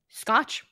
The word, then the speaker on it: Scotch: related also do you how do you say your last name sco Scotch literally like the tape or the drink yeah no it straight